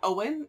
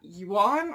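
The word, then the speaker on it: Eoin: twins by I found it's pronounced Owen not you Juan or whatever I was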